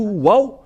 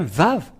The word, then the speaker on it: vav: c'est bien ça donc c'est pas du tout waouh mais on le prononce bien vave et le vave est